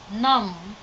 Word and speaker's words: numb: tight the last word nom nom B is not pronounced before firing or chewy so